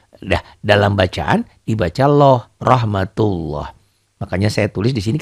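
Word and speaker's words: رحمة الله: tebal tafkhim ya rohmatullah tulisannya seperti ini dibacanya beda tulisannya kan Rahmatullah dibacanya jadi rohmatullah seakan-akan ini ada w-nya ya ini Rahmatullah Bagaimana yang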